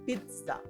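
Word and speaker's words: pizza: আমার বাংলা এটা ঠিক আছে কিনা খন্ডতর হ্যাঁ পিচ্চা ওকে সো এইটাকে আমি কি করবো এই যে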